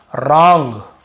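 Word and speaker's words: wrong: डब्ल्यू को नहीं पढ़ना है। देखिए रॉन्ग रॉन्ग यानी होता है भाई गलत। राइट ये राइट यानी लिखना।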